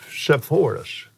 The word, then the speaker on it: Sepphoris: What about the city of Sepphoris? Is that the way you pronounce that?